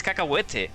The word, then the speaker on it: Cacahuete: So cacahuete is peanuts, so therefore it's exactly the same as Spanish. You know, it's cacahuete.